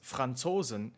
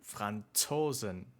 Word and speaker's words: Franzosen: In standard German, it sounds more like TS, like the end of the word cats or hats. So, the native pronunciation is closer to "Franzosen".